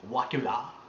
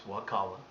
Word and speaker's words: Wakulla: That's spelled Wakala, not Wilia or Wacula. When I first moved down here, it's Wakala, Florida.